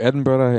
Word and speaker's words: Edinburgh: But we'll be in the two largest cities in Scotland, which I've been forbidden from announcing, or pronouncing, I should say. You're going to Edinburgh and Glasgow.